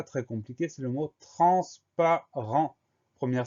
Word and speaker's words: transparent: Le premier son en de transparent s'écrit N, le deuxième son en s'écrit E-N. Et à la fin de transparent, on a une lettre muette, on a un T qu'on va retrouver si on met le mot au féminin, transparente.